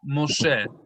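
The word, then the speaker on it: מֹשֶׁה: Moshe. Moshe. Moshe. All right, we had something tricky here. This word is for sure Moshe, but where is the O sound?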